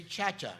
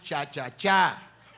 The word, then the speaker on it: cha-cha-cha: cha cha you know the gringo say cha-cha they say excuse me the name of the reading is cha-cha-cha with the accent in the last a i have to learn